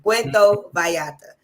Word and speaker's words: Puerto Vallarta: Puerto Vallarta. That's how you pronounce it. Puerto Vallarta.